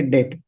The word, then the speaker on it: debt: Generic product or assets are debt asset, spelling as this T is silent. So we say debt.